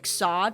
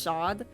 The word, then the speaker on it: Sade: But okay, the girl's called Sade, but the band is also called Sade. Like Sod, it's pronounced Sod.